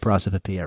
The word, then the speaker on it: prosopopoeia: Yeah, so it's Prosopopoeia, prosopopoeia. Very similar to onomatopoeia.